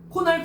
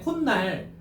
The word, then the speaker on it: 콧날: 코날. 코날이래요. 야, 너 코날이 왜 그랬날이라 하잖아요. 콧날. 그럼 여기서 지금 무슨 소리가 덧나고 있어요? 여긴 분명히 니은이 없잖아. 근데 니은 소리가 덧나고 있잖아.